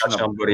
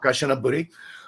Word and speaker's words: Kanchanaburi: day trip out to Kanchanaburi. Am I correctly pronouncing the word? I think it's Kanchanaburi, yeah. Yeah, Kanchanaburi.